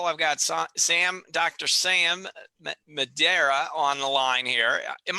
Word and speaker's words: Madeira: Sam Madera on the line here am i pronouncing your name correctly yeah Madeira Madeira and perfect I got it and we're